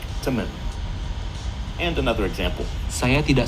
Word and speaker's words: temen: And one more small difference we can see is that the word for friend, teman, is pronounced more like temen.